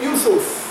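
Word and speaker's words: Ἰησοῦς: If you were speaking Hebrew, you would say Yeshua. So the Hebrew would say Yeshua. The Greek would say Yusos. The English Yusos is Jesus. The Spanish is spelled the same way, but they say Jesus. But when they say Jesus, when they say Jesus, when they say Yusos or Yeshua, it's the same.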